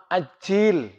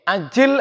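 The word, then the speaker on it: عَجِّلْ: Ini kalau bacanya terbalik, ya, ajil artinya ya Allah segerakan, pakai ain.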